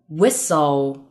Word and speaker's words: whistle: Number four.STLE 结尾 ,T 不发音。Castle, whistle.